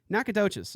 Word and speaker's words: Nacogdoches: think that I think I know how to pronounce that knack knack knack a touches I've been through there but hello firewall Brandon